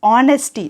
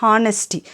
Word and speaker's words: honesty: the best policy honesty you should pronounce it pronounce it as honesty not honesty silent here honesty is a noun honesty is